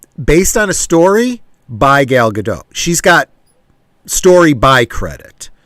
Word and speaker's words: Gal Gadot: that says something that means this is really gal gadot's product excuse me gal gadot that's how she pronounces it gal gadot's project i for you